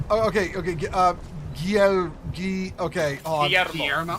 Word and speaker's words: Guillermo: Give us the proper Tinks pronouncement. Okay. Okay, hold on. Guillermo. Guillermo.